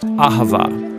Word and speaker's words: Ahavah: It's pronounced Ahavah.